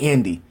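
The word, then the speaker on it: Anne D: name, like Ann D, like Ann, A-N-N-E, initial D, but that's not how she pronounced it. She just rolled all the words together, man, and it sounded like Andy.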